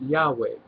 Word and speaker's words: Yahweh: The name is, well, closest we can come to pronouncing it, Yahweh.